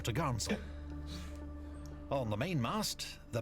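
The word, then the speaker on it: topgallant: course four Top Sail pronounced topsel and four top gall s pronounced for to gel on the main Mast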